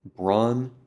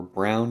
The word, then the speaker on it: Braun: He worked with Braun previously, or Brown, depending on how you say it.